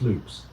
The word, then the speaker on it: Lopez: Paul Conover, owner of Amitil Lickers, and Rafe Lopez, pronounced loops, a dark-skinned Portuguese elected to the board by and a vocal defender of the town's black community.